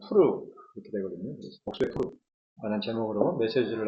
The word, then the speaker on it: 푸르: 오늘 에스더 3장 7절로 15절까지 말씀 가운데서 복수의 푸르 그니까 우리 한글에서는 부르라고 되어 있는데 원래 히브리 발음으로는 푸르거든요.